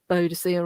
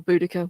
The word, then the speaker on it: Boudicca: the story uh of um beaudicier or boudicca whichever you want to pronounce it and obviously just outside